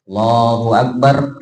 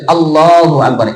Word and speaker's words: Allahu Akbar: Maka pengucapannya kemarin sudah kita bahas harus jelas. Tidak boleh Allah akbar. Nah, itu enggak sah. Nah, tapi harus jelas Allahu Akbar.